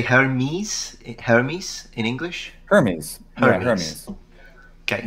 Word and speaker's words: Hermes: Greek would in pronouncing in the modern Greek fashion it's hermis yes so the a feature